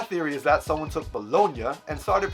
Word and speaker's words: Bologna: You know, you just have to know how to pronounce Italian words or realize that the second half of the word is the exact same as the second half of lasagna.